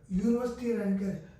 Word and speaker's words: University: all these three words this is giving the sound like you un leer University unique we are giving the sound like U right when we give the